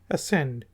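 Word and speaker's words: ascend: बैठे थे इस सीएमडी इसको हम कहेंगे एसेंड इसको मस्तानी करेंगे ऐड नहीं कहते बल्कि कहते हैं अ सेंड जिस चरणों गुस्सा जहाज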